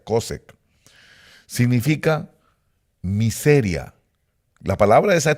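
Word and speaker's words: חֹשֶׁךְ: esa palabra cosec cosec Así es como se pronuncia cosec significa miseria la palabra esa tinieblas es miseria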